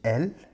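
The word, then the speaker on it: elles: çoğul şahıs onlar Fransızca'da feminelle isimler için el yine sonunda Es takısı var masküler isimler için il yine sonunda Es takısı var ama üçüncü tekil şahıs ımıza aynı şekilde telaffuz ediyoruz sondaki Es telaffuz edilmiyor Arkadaşlar bu zamirleri kullandığımızda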